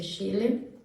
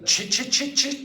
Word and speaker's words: Chile: How do you pronounce that? Chile. Chile. Okay. Or actually very often they say chile.